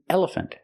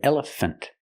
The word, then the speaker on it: elephant: on the table and this isn't elephant not an elephant but an elephant make a closed sound for the last syllable F fun elephant this